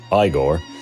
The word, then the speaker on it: Igor: Inga his inconsistently hunchbacked sidekick eigor pronounced igore and of course fra